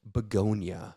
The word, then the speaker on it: Bugonia: Today is very special because we are reviewing a movie called Bugonia.